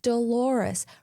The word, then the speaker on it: Dolores: Moments later, after she leaves, he realizes it's Dolores, rhyming with the common pronunciation of clitoris.